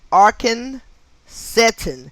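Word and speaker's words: Arcan Cetin: immigrant with the name arkhan satan n a-r-c-a-n-c e t i n which sounds much like arson setting oh man arson which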